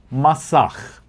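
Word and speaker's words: masach: Well, there's a concept within the secrets of the Cababala called masak. Masak. We can spell it m a s a c h.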